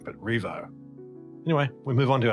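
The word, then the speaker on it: Rievaulx: Now it's spelled really hard, but it's just Revo. Revo. Just Revo, you know, it just is.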